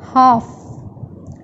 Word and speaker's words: half: Letter L is silent. As we say this word, half, half.